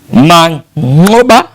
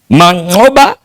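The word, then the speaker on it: Manqoba: raia wa Afrika Kusini Mangoba ndivyo wenyewe wanavyotamka kule nchini Afrika Kusini matamshi yale ya kiiraki ya kina ya Wahadina Chaba kama unakumbuka vizuri Mang'oba lakini sisi kwa sisi wengine ambao hizi ng'a zinatusumbua sumbua basi ni vyema tu kusema ni Mang'oba Mwiti yes huyu ndiye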